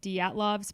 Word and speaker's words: Dyatlov: My dad's Russian, and he said he did a weird thing with the DY. He's like, Dyatlov.